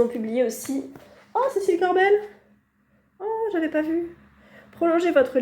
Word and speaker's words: Corbel: sais pas si elle Cécile Corbel comme ça se prononce c'est au R B e l et non je